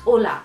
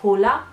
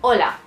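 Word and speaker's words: hola: wondered why it's not hula if they're writing it hol because the H is silent I mean always you write it sometimes but you don't pronounce that so it's Ola okay so the next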